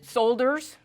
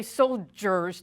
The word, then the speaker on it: soldiers: we pronounce this word is it solders know we say soldiers don't wait there's there's I don't know if you noticed that there's no G in there and that is spelled